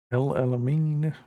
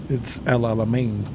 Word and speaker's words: El Alamein: See, in English, we would pronounce that El Alam, like El Alamein, mean, like just because you're pronouncing every letter. But in reality, it's El Alamein, like AIN, not EIN.